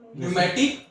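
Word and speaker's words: pneumatic: चलता हैिक न्यूमेटिक सर न्यूमेटिक टी एन ई यू एम ए टी आई सी किस जैसे P silent होता है यस सरिक ठीक है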